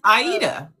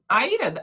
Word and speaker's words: Aida: It is Aita. Aayita. I you know what? I'm used to pronouncing the name. So, but you you probably have a a phonetic spelling that you use for people. Yeah, it's well, it's I Ida Asher is like the Iranian way of pronouncing it, I would say.